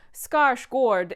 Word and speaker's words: Skarsgård: And if you are new here and you have not already heard me say this, Skarsgård is how you say it på svenska.